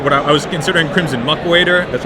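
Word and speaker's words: Crimson Muckwader: to figure out what I I was considering Crimson muck waiter that's how it's pronounced um as my two drop because I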